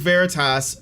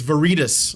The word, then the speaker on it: Veritas: small groups like project veritas are active right now these groups oh i'm sorry it's veritas i forgot i'm mispronouncing it's veritas these groups use social engineering